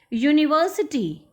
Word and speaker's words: university: University. although students, you will say that U is a vowel, but the pronunciation is U. The sound is of a consonant.